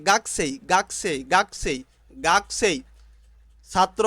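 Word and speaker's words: 学生: ছাত্র বা ছাত্রী স্টুডেন্ট গাকছে স্টুডেন্ট গাকছে স্টুডেন্ট এখানে গাকুছে কিন্তু জাপানিজরা উচ্চারণ করে গাছে গাছে গাছে গাছেই ছাত্র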